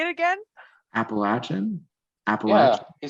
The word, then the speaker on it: Appalachian: he wait how do you say it again Appalachian Appalachian you said it right oh I thought